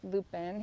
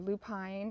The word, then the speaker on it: lupine: So I did some winter sowing with lupin, here it is, or lupine, depending on how you pronounce it.